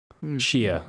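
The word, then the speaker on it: Xia: Zha. I was just thinking of like the word in Scrabble. Thinking like a bullshit word in Scrabble, X-I. Like. Pronunciation, Zha. Shia. Shia, apparently.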